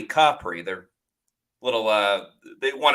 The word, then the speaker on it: Capri: at um Amalfi sarento um visited Capri not Capri Capri they're little uh they want to make sure you got the pronunciation correct uh Positano and like one other